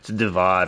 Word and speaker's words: Divad: I can't remember how it's pronounced in history. They misspelled David. It's supposed to be David Hunting. What? It's Divad, or it's D-I-V-A-D, Divad Hunting.